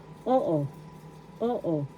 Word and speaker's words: oo: o example halimbawa inagalog o oo yes in English oo first syllable o is the accent oo second syllable is not accented so only the first syllable o Oo.